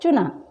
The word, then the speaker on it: चूना: खुला, लुट और चुना।